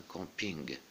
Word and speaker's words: camping: Un camping, donc ici on prononce le G, un camping.